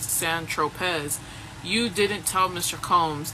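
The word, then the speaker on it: Saint-Tropez: When you bought the eightball of C on St. Tropz, pronounced San Tropz, you didn't tell Mr.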